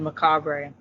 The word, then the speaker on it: Macabre: On Google, it will pronounce the name, and it said Macabre. Yeah, it is French.